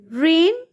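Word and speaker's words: reign: to perform and एक्ट रेन इसमें जी silent है दौरे हुकूमत रूलिंग पीरियड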